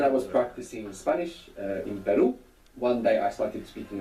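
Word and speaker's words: perro: RS together inside the word is going to pronounce this Double R so the word for but in Spanish is per p e r o and the word for dog is per p e r r o per so that's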